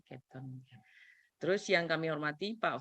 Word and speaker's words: Cape Town: Nah, bacanya Cape Town.